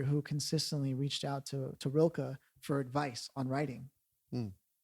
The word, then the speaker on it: Rilke: There's a poet by the name of Rilke, actually, is how I've heard it actually pronounced. Rikle, Rilke, right?